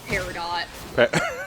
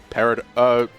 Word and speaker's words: Peridot: I hate that her name's Peridot. Why? Why? That's not how you pronounce it. How do you pronounce it? Peridot. Okay. Yeah. Mm-hmm. Yeah. It's with a Yeah. it's with a silent T.